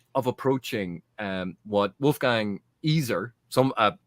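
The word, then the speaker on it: Iser: approaching um what wolfgang easer some uh one of my commenters correct me i've been calling him wolfgang eizer i've been mispronouncing it wolfgang easer talked about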